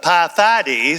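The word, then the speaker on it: Pheidippides: But it was it was actually inspired by the legendary run of Pyth. That's the way you pronounce this guy's name in Greek.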